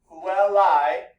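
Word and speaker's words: puellae: So if we have our word Puelai, we have 2 vowels here, Pu divided El divided 2 consonants, and then Puelai. Remember the diphthong, the AE counts as 1 vowel, so it is 1 syllable.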